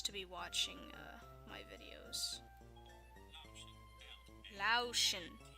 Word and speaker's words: Laotian: be watching my videos lotion not Laotian I thought was Laotian this whole time well I can't even